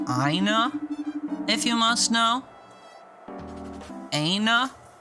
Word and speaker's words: Aina: It's Aina, if you must know. Aina? How do you pronounce that?